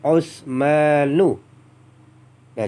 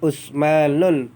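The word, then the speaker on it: عثمانُ: Jadi kita bacakan dulu kelima nama ini sebagai contoh ada Ahmadu dan Utsmanu. Nah, jadi bacanya bukan ahmadun, bukan Utsmanun, tapi Ahmadu dan Utsmanu. Kenapa?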